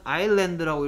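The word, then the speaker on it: island: 그래서 1번 서희 똑똑 똑똑 is 어 자 얘는 아일랜드라고 읽으면 됩니다. 뭐라고요? 아일랜드. 아일랜드. 오케이. 뭐가 소리 안 나? S. 그렇죠. S가 소리 안 나고 있죠.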